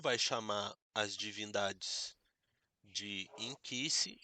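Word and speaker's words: nkisi: Inquisice. Se eu for escrever, não tem o I. É ninquice. O n é mudo. N K I S I Nquisse, mas a pronúncia é inquisice.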